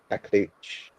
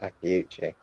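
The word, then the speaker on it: Akliouche: So should at least be easily replaceable and more money for a good replacement like Akliuch, which I think is how you say his name, not Akliuchi.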